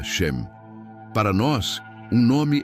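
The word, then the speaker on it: שם: Para aprofundarmos neste conceito, precisamos conhecer a palavra hebraica para nome, que é shem, se pronuncia shem.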